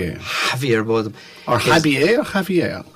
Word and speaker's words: Javier: Or Javier or Javier? Javier, because he's Spanish.